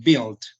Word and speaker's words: build: tenemos Bills esa palabra no pronunciamos la u pronunciamos desde la y decimos build entonces Bill dice construction